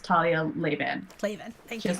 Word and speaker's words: Talia Lavin: She says her name as Talia Lavin.